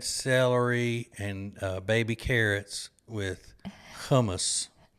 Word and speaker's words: hummus: bread Peta bread celery and baby carrots with hummus it's really pronounced kumus but I know most people don't pronounce it